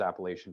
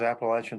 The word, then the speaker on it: Appalachian: and that that was appalachian pt that was appalachian physical therapy yep great um i like your pronunciation a lot better than mine that's your apple ash got it um and